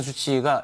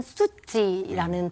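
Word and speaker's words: Suu Kyi: 네, 우선 그 앙산 수치 여사에 대한 그 소개를 하기에 앞서 국가 고문께서도 정확한 이름 발음을 그 아웅산 수치가 아니라 아웅산 수찌라는 발음을 죄송합니다.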